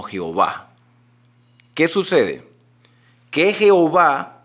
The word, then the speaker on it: Jehová: Hubo un tiempo en la historia del cristianismo que agarraron las vocales de Adonay y se las pusieron a las cuatro consonantes y una transliteración de años hizo que le pronunciáramos como Jehová.